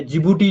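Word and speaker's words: Djibouti: एक है आपके पास यमन एंड डिजिबूटी या जिबूटी जिसको बोलते हैं, ठीक है, टी इसमें साइलेंट होता है, जिबूटी और यमन के बीच में है, ठीक है।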